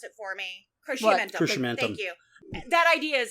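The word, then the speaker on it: Cruciamentum: MC, please pronounce it for me. Crescimentum.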